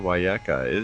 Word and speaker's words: Wiyaka: see what we can get out of Wiyaka. Am I pronouncing your last name right?